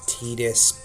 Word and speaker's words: Tidus: is a spell that Titus, And yes, I know that officially it's Tetus, but seems like Square Enix can't even fully nail that down when you have characters in uh, Kingdom Hearts that also say Titus.